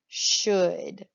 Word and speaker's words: should: The word of the week, our tricky word is should. And remember, this does not look like it's spelled.